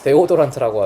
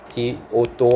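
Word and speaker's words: deodorant: 데오도란트라고 하죠. 이제는 고급지게 발음하자 얘들아. 디오도 완체 알겠어요? 디오도 디오도 이제 올리브형 가가지고 디오도한테 주세요라고 하시면 돼요.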